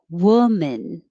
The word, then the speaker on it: woman: like men's room 29 woman the looks like an o but it sounds like an uh like took so you don't round your lips woman and then 30